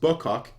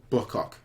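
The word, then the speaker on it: Bucock: help at all Nick it's not pronounced buck hawk it's pronounced book Hawk Wow great insight great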